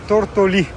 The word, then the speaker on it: Tortolì: Ah sì ragazzo mio, siamo a Tortolì, con l'accento sulla I.